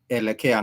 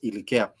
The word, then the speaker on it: elekea: The English letter E is a Swahili vowel E, and therefore it has to be elekea, not ilikea.